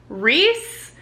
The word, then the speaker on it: Rhys: through a breakup with this guy reese like guys rhys as in like re-sand like from acotar like r-h-y-s spelled the same way and reese's welsh and i'm kind of